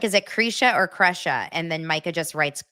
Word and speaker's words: Krisha: Okay, it's pronounced Kresha, spelled Krisha. Yeah, you guys, trying hardest.